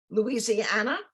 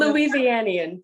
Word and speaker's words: Louisianian: She is a native Louisiana, or you can correct my pronunciation. Louisianian, but good enough, yes.